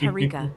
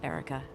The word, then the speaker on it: Harika: But it's Harika, not Erica. And I'm doing just fine, thank you. This is mind-blowing. So I should call you Erica? Is that pronunciation correct? Erica? Oh, moist boy, you really know how to push my buttons. No, you shouldn't call me Erica. It's Harika with an H.